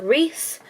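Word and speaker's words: Rhys: And she lives with her older brother Reese, which is spelled R-H-Y-S, and her dad Darren.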